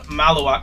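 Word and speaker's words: Khaman Maluach: Someone educate me on how to properly pronounce that. Kamoon Malawak. Kamoon Malawak.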